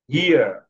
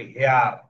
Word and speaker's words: here: British accent যদি আমি করি তাহলে আমরা আরের উচ্চারণটা ওভাবে করবো না। হিয়ার, হিয়ার, ঠিক আছে, আরের উচ্চারণটা ওভাবে হয় না ব্রিটিশ অ্যাকসেন্টে, ইউকে। ঠিক আছে, হিয়ার, হিয়ার। যদি আমরা বলি হিয়ার, হেয়ার, কেউ বলি হেয়ার, কেউ বলি হিয়ার, তো আসলে উচ্চারণটা হয় হিয়ার।